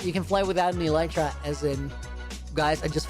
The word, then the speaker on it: Elytra: You can fly without an elytra, as in...